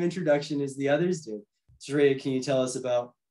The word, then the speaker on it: Shreya: So Sharia, how did I do first off with the pronunciation of your name? That was good, actually. That was absolutely accurate. It's Sharia, so you did good.